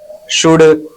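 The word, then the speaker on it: should: श पढ़ेंगे शोल्डर shirt शुड यहां पर हमारा एल साइलेंट है तो यहां पर एसस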